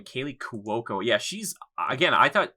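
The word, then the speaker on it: Kaley Cuoco: harley quinn that's how you say her name kaylee cuoco yeah she's again i thought she she doesn't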